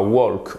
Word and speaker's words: walk: work to work évidemment c'est pas walk on ne prononce pas le elle ici c'est exactement comme